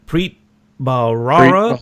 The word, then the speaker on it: Preet Bharara: bahara how do you say his name Preet Preet Bharara all right yeah yeah it took him 10